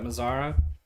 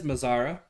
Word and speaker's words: Mazara: pitch kelly nice pitch brings up mizara it's probably mazera i'm pronouncing it wrong fastball had some good movement on it not a ton but had good movement it is mazara he's three he's hitting